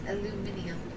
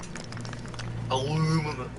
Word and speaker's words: aluminium: It's aluminium. That's how English people pronounce it. Aluminium. Aluminum.